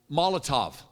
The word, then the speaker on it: Molotov: Is that how you call Molotov? Molotov? Spell it. Molotov. T-O-V.